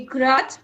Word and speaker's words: grudge: Silent D यदि जी से पूर्व डी दे रखा हो तो डी प्रायः साइलेंट हो जाता है, जैसे as, hedge, And laser, ग्रज, बजट, and ब्रीज.